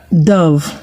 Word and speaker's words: dove: Dove, DOVE. Okay, I'm mentioning this because these words are in the past questions. Dove, the O in dove, DOVE is pronounced trying to remember more words.